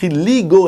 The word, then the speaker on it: Leagoo: Aujourd'hui, on va tester une nouvelle marque sur JG qui vient d'arriver, c'est le Ligo. Oui, Lead 7. Non, ça s'écrit pas comme un Lego, c'est Ligo L2O avec le Ligo Led 7 qui a la particularité d'avoir une batterie énorme de 4500 mamp.